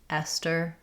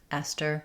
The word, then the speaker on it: Esther: In Esther, the letters th just say the t sound. Esther. Esther. We use a true T here because it's after the S.